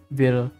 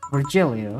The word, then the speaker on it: Virgilio: It's pronounced Virgilio. No, I'm pretty sure it's Virgilio.